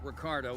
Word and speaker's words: Ricardo: these more take a transit car and meet ricardo in the system i'm trying to use the connect pronunciation of his name marshall weights it is